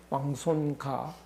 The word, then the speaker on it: 왕손가: 예, 왕손가. 이 가자는 그 상인 할 때는 고가 되고 발음이, 그렇지 않을 때는 가가 되고 그렇습니다.